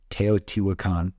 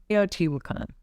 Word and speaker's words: Teotihuacan: Yeah, it was, I'm not sure how I pronounce it. Teotihuacan. Teotihuacan.